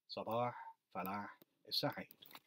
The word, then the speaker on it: Sabah Falah Said: My name is very hard to say if you don't speak Arabic. There are sounds in it that don't exist in English.